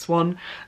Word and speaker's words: Xuan: It's pronounced Swan.